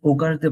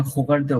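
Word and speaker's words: regarder: ইটস নট সরাসরি ওগারদে বলা যায় না, হোগারদেও বলা যায় না, ইটস লাইক হোগারদে, হো।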